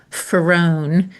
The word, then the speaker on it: Farone: Ferrron like far one.